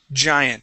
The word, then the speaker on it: giant: Giant. Now this G has a J sound, and you'll feel a vibration right here.